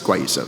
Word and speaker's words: guayusa: Or hey, here's this random guayusa, it's guayusa, but we didn't know how to pronounce it at the time.